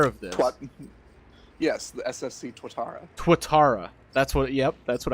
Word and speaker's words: Tuatara: Yes, the SSC Tuatara. That's what... Yep, that's what I said.